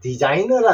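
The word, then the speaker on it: designer: 디자인하는 사람은 우리 설계자 디자이너라 그러죠 자 디자인은 똑같습니다 디자인는 음이고 자인에 니은 다음에 모음 이이 있어요 이은 어 난다 그랬죠 그래서 자인에서 여기서 끝나지 말고 디자이 니은을 어로 연결해 주십시오 그러면 디자이너가 됩니다 디자이너 아셨죠 디자이너 디자인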